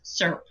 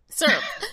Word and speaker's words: syrup: And she responded, in Texas, there is only one syllable in that word, and it's syrup. Syrup.